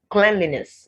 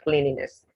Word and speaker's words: cleanliness: cleanser not cleanser cleanser cleanliness not cleanliness zealous so it's not